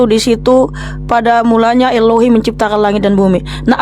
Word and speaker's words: Elohim: Ternyata original words-nya Elohim, part of speech, noun masculine, transliteration Elohim, pronunciation adalah Elohim.